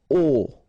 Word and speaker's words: aux: get this aux, okay, and then phonetically you produce it or you pronounce it o.